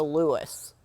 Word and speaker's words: Lewis: it funny how Lewis emphasis on the first salable in Lewis Lewis yeah L Lou Lewis but when you're in trouble